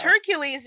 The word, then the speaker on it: Hercules: Well, because Hercules is the way the Romans said it, but in Greek is Heracles.